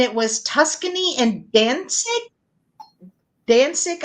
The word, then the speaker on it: Danzig: Danzig, I believe is how you say that.